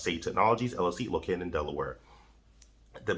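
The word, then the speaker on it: SAY Technologies: SAY Technologies pronounced Safe Technologies LLC located in Delaware.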